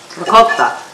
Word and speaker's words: ricotta: And Wendy, I appreciate as an Italian, the way you say it, ricotta. Ricotta.